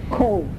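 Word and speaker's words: Cobh: we went to see OVH that's pronounced cold it is the harbour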